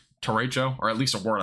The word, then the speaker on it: derecho: I pronounce it Derecho. People pronounce it Dorito for some reason.